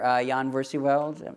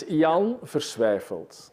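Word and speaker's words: Jan Versweyveld: your plays, Network you designed with your partner Jan Versiewald. Did I pronounce that correctly? No, but please. Would you please pronounce it's it correctly? It's an impossible name. It's Jan Versiewald.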